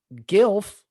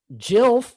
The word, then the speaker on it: GILF: were to go g you would pronounce it gilf not jill yeah you would say